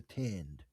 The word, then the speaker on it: tind: Uh and so as he's walking around, he keeps seeing signs for the tind, which is that hard to pronounce.